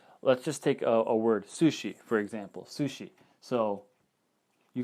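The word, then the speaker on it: すし: you have a su this is pronounced su and she this is pronounced shi sushi okay and then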